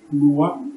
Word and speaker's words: Nowa: Comme il a été dit, je suis et je vous parle aujourd'hui au nom du roi Noah Amani. Noah s'écrit N-O-W-A, Amani s'écrit A-M-A-N-I.